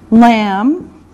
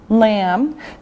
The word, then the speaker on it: lamb: Lamb. Lamb. Now remember the B is silent. No sound. Just lamb.